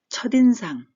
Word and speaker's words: 첫인상: 그래서 특기, 첫인상, 첫인상, 처의 시옷 받침이 디귿 소리가 나기 때문에 뒤로 살짝 이어가면서 디귿 소리가 납니다. 그래서 첫인상 이렇게 띄어 읽지 않고 첫인상, 첫인상 이렇게 읽어도 무방합니다.